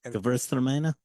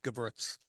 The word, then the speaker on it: Gewürztraminer: Gewürztraminer. Yeah. Gewürztraminer. Yeah. You know what? The easy way to do it is Gewürz. Just say Gewürz.